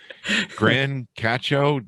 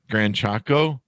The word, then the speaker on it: Gran Chaco: audience we just lost the uh rayo people grand cacho does that man choco yeah gran chaco yeah i'm hungry choco talk is a taco